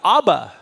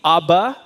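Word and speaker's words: אבא: put a dot there now what do you have ABA see notice how the the V changed to B ABA of like Dad and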